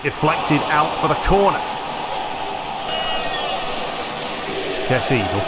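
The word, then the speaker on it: Kessié: I believe the proper pronunciation is Kessier, because him being French, but of course Kessie works as well, either or.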